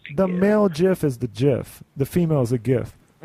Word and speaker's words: GIF: yeah are you in high school it's a Jif that's how you pronounce gif are you shooting for your porn